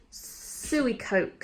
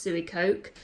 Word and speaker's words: Suicoke: And then I'm wearing my Suey Coke sandals. I believe it's pronounced Suey Coke. My friend Alexis said Suey Coke the other week, so I'm just rolling with it.